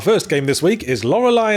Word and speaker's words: Lorelei: Our first game this week is Lorelai and the laser eyes, which rhymes with tries, and now I'm writing it down.